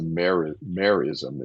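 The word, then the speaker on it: merism: I think it's a meism is the right way to say that.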